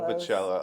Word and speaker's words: Volpicella: Is that the correct way to pronounce it? Volpicella, close. Volpicella.